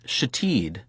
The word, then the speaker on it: Shithead: It was pronounced Shatid, but was in fact spelled shithead.